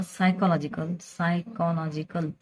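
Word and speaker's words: psychological: Condition of disturbances in फिजिओलॉजिकल और सायकोलॉजिकल. पीचा उच्चार करायचा नसतो आणि स्पेलिंग लिहिताना मात्र लिहायचा पी.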